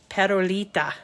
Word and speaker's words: Perolita: Perolita. I'm saying it with a rolled R.